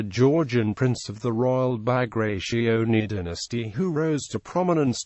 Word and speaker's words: Bagrationi: His name in the Georgian language was Pyotr Bagration, pronounced Bagrationi with no significant stress.